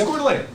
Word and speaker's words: Coeur d'Alene: It's Coeur d'Alene.